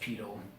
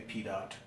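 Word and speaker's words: pitot: very familiar with it evidently that is also a French word TI t OT we would say T dot but it's pronounced pedo although you will hear Americans say P dot and basically what it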